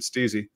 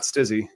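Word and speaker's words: Stiiizy: So did Steezy. It's not Stizzy, because it's Stylenese.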